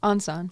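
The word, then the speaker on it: 안산: how do you pronounce that? Ansan. Ansan, okay.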